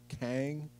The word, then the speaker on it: Kang: q e in uh g which would be pronounced as kang in ch in uh right i got you